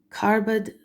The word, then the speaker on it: Carbad: Carbad na Morrigu Anand.